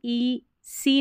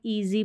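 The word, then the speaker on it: easy: में वाई है तो इसको हम ई सी नहीं पढ़ रहे ईजी पढ़ रहे हैं तो ये हम कैसे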